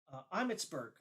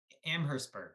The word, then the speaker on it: Amherstburg: this town called uh amsburg amsburg I might be pronouncing it incorrectly Amherstburg yeah Amherstburg thank you yeah yeah so